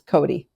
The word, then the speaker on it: Cote: Is it Cote? No, it's Cote. My husband's family dropped the other pronunciations, that they might use in Maine. It's Cote. Cote. Okay, yes. It's spelled C-O-T-E.